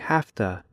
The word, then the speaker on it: have to: by using half - in slow speech Americans say have - but in fast speech Americans say hafta it looks like this